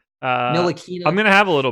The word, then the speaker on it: Ntilikina: Ntilikina. Yeah, that T doesn't exist when you try to say it. Ntilikina.